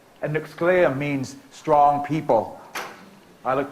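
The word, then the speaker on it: nəxʷsƛ̕ay̓əm: But like a lot of Native names, that's a mispronunciation by the English speakers. My tribe's name is Nuxkleam, and Nuxkleim means strong people.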